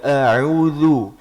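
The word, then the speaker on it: أعوذ: Yang ketiga a'udzu. Huruf zal itu makhrajnya ujung lidah ketemu dengan ujung gigi seri atas. Jangan a'udzu tapi a'udzu. A'udzu billahi minasy syaithanir rajim.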